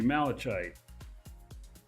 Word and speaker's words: malachite: to tell me that malachite and c-h-i-t-e spelled kite pronounced kite makes sense to me kite kite how about I just